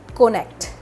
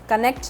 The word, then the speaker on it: Konnekt: एक और साइट है कोनेक्ट, कनेक्ट नहीं कोनेक्ट। कोनेक्ट को आप ऐसे प्रोनाउंस करेंगे KONNEKT।